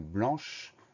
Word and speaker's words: blanc: On fait attention au son AN qui s'écrit N, on fait attention au C muet de la fin de blanc, B-L-A-N-C.